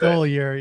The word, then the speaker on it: Stoliar: Stoliar. Yeah, yeah. He sort of slapped me on the wrist. I pronounced his name wrong.